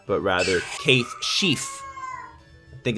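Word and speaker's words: Cait Sith: I saw a video the other day where they talked about how it's actually not Kaith Sith, but rather Kaith Sheaf.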